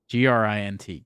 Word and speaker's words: Grint: you pronounce his listening I thought it was nin grin g-r-i-n-t Grint with the silent r yeah yeah I mean